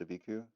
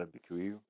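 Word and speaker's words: Abiquiu: I've been hearing it pronounced a Viku, not a Viku. Um it's interesting, too, how the the first I the A B Q is emphasized when there's not the extra vowels at the end.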